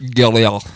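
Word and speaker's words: Gruyère: It's pronounced Gurier. It's a Swiss word. It's actually just all glottal stops. It's just guck, guck, guck, guck.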